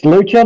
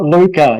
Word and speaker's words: Lucha: It's Lucha, not Luca.